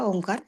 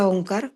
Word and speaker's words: ओंकार: हालचाल बघायची ओंकार उच्चारताना सुरुवातीला आपण अ चा उच्चार आहे तो दोन सेकंद करतो उ चा उच्चार आहे तो तीन सेकंद करतो आणि ओट मिटून मकाराचा उच्चारण आहे ते पाच सेकंद करतो सुरुवातीला शिकताना आपण असा